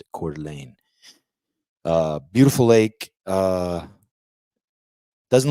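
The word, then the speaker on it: Coeur d'Alene: out these doors here behind me is uh cordelan that's how you pronounce it cordelane uh beautiful Lake uh doesn't look big has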